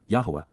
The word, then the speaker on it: Yahowah: and guidance of Yahowah, Yahowah, the proper pronunciation of the name of Eloah, God as directed in